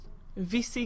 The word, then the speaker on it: Vici: Vici Gaming, that's how you pronounce it.